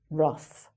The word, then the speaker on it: rough: "Enough", "rough", "tough", "uff".